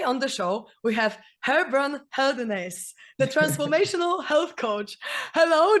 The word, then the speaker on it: Gerbrand Geldenhuys: Like, I'm from South Africa and we have a different way of saying our words. So my name is Gerbrand Geldenhuys, if you want to say it correctly.